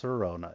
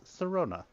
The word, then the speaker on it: Sirona: Not even pronounced Sirona, it's Sirona.